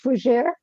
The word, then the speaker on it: Fougeres: Please bring out Reverend for, I need to make sure I pronounce this right, so forgive me, if I don't, FOUGERES. It is okay, it's FOUGERES.